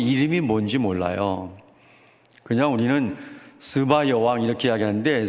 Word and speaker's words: 스바: 뭔지 몰라요 그냥 우리는 스바 여왕 이렇게 이야기하는데 스바 여왕이라고 사람들은 잘 발음하지 않습니다 다 시바 여왕이라고 하지 스바 여왕 시바 여왕이 아니고 스바 여왕이에요 그런데 제가 설교문을 다